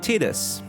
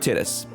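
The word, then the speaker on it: Tidus: I'm going to go with Titus, because Titus, I mean, it would make more sense because I guess it derives from like tidal wave, ocean, Spira, surrounded by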